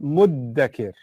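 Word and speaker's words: مدّكر: So what the Arabs do is they fuse them and they say there's an easier version of it, muddhakir, which is a shadda on the dhal. But then even the dhal is hard to pronounce because you have to stick your tongue out. So what's the easiest version of it? Muddakir. Muddakir. So the dhal becomes a dal.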